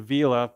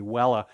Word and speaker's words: Vela: point out the constellation vela the old Latin pronunciation would be Wella these are really interesting